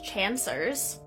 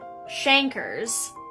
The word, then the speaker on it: chancre: sores that are produced, called chancers. Sorry, I fully pronounced that wrong. Chancres.